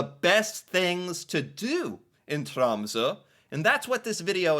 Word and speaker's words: Tromsø: existence of this city trza back then I called it tromo but now I think I'm pronouncing it somewhat correctly I'm a little bit